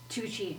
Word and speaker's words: Tucci: Tucci is spelled Twocchee. Tucci. Two. When people don't know how to spell it, I say two cheese, but without the Without the Swiss.